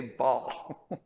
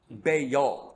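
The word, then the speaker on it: Baal: pronunciation it's it's actually bayol does that make sense it's like two syllables bail bail okay okay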